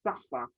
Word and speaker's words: SAFER: aware of which is something called safa spelt safer pronounced sapphire and it's almost the layman's